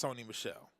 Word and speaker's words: Sony Michel: And that's Sony Michel.